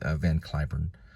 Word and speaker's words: Cliburn: call it the Wikipedia I thought AI on the on the IPA was um clay like clay or like rain like Clayburn but they usually most announcers like radio announcers or TV announcers they pronounce it kurn okay so we're going to go with van kurn he would probably be